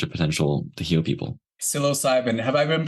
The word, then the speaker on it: psilocybin: Psilocybin. Have I been pronouncing it psilocybin this whole time? Maybe, yes. I didn't want to correct you, but I think it's psilocybin.